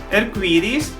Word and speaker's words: arcoíris: The pronunciation is a bit or slight different. Arcoíris, that is Portuguese, and Spanish, arcoíris. Arcoíris. That O is open and doesn't sound like U.